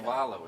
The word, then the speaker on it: Cavallo: How do I pronounce the last name? Cavallo. It's Italian.